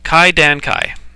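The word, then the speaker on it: 怪談会: Oh my goodness, I'm going to have to pronounce this word, aren't I? Hyakumonogatari. Hyakumonogatari. Kaidankai. No, Kaidankai.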